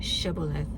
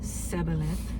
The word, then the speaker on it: Shibboleth: If he replied no, they said, "All right, say Shibboleth." If he said Siboleth, so they have to repeat a word. So if he says it, because he could not pronounce the word correctly, they seized him.